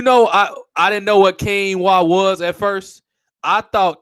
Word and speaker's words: quinoa: I didn't know how to pronounce it at first. I thought it was quinoa. Yeah, I'm like, what the? How you say that? Quinoa, which sounds like you got like a Spanish origin to it or something like that.